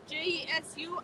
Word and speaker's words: Jesú: Oh, my name is Jesú, Jesu, accent on the U, like the actor.